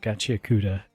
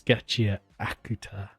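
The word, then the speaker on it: Gachiakuta: It's not Gachia Kuda, it's Gachia Akuta. That's how you pronounce it.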